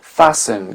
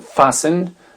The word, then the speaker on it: fasten: souvent dans les transports fasten qui veut dire attacher serrer sa ceinture fen seat belt seat belt la ceinture de sécurité seat belt donc fasten le T ne se prononce pas on a le château